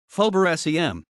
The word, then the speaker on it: Faubourg Saint-Germain: phobia saint-germain french pronunciation fober sem is a historic district